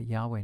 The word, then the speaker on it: Yahweh: The Lord, which we suppose may have been pronounced Yahweh, this is the I am name.